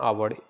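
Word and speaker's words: hour: was late bye एन आवर एच क्या होता है साइलेंट होता है इसलिए आवर हम लोग इसको हावर उच्चारण नहीं करते हैं आवर करते हैं इसलिए यहां पर एन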